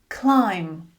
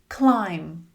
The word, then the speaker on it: climb: Climb. Climb. Comb. Comb. Dumb. Dumb. Numb. Numb." You can see the "B" is usually silent when it comes after "M" at the end of a word.